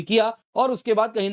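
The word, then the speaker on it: Kaja: Affairs and security policy काया class. जी हां दोस्तों अगर आप देखें तो काजा मत बोलिएगा। इट्स काया जे इज साइलेंट।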